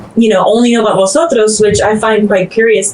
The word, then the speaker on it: vosotros: Well, technically in standard Spanish, this V that we have in English doesn't exist in Spanish. They have a B sound, the B. And so a lot of times when you have a word written in Spanish with orthographically with that letter V, would pronounce it vosotros with the bilabial.